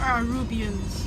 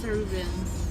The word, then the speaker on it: Arubans: Do you guys call it Arubans or Arubians? Arubans. Ah shit, the real correct pronunciation is Arubans.